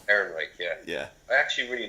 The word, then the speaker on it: Ehrenreich: Ehrenreich. Ehrenreich, yeah.